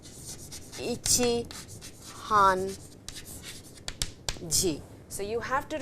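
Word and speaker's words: 半: your screens this is written hun it is pronounced as Han and Han means half actually half now half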